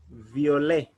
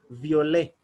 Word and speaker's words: violet: in french we'll say violet will not pronounce the last letter t it is silent most of the words in french the last letter it is normally silent so we'll say violet the only and then